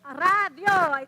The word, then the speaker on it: radio: guys are so good yes in spanish it's radio you've got two syllables that's it or as an english speaker radio right but it's not ray d yo and you might think